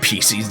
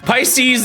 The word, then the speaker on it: Pisces: of all right P's P pieces you guys did not hear that Pisces obtained it's cuz I always I'm always thinking about Japanese pronunciations and I is always e like in my recent video I keep having to say I I probably am messing up a lot you need to say